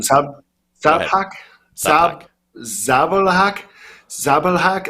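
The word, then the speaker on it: Žabljak: Zabalhak, Zabalhak. Like the J makes the H sound, just like Spanish. So Zabalhak, I think that would be possibly how you pronounce it.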